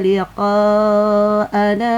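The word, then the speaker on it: لِقَاءَنَا: Na didahului Hamzah nanya tetap dibaca panjang. Iya. Contohnya di surah ke-10 ayat 7 dan 8 ya. Bismillahirrahmanirrahim. Innalladzina laa yarjuna liqaana waradu bilyatid dunya.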